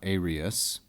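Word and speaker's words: aërius: Aeria is a feminine singular and ablative from this word aerius, spelled like this with a diaeresis to show that this is not a diphthong and derived from the Greek.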